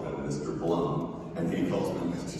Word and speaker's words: Blum: My understanding is it's Blum and Sabat. Yes. Sabat. I actually have a joke with Steve where I always call him Mr. Blum, and he calls me Mr.